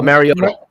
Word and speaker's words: Mariota: Oh, Mariota.